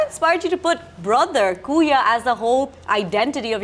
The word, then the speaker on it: kuya: But like, what inspired you to put brother Kooya as the whole identity of your restaurant? Everyone calls us Kooya here, right? Exactly. So what we did is, let's spell it with a double O, Right.